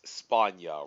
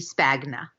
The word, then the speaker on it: Spagna: mispronounced your last name it's spawn yah rhymes with the Russian name Tanya right you know what you could say if you said it if you said it in the American Way it would be Spagna I just say